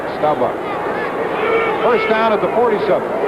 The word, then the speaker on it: Staubach: By the way, that's the way he pronounces his name, like it's B-O-C-K, Bach, Staubach.